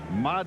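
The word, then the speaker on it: Mare: Now, this is Mad. It's spelled M A R E, but it's the Italian pronunciation.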